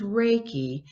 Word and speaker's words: Reiki: a couple times in your book titles is riki from if i'm pronouncing that right can you explain what that is yeah it's pronounced as reiki and it's really started oh gosh back in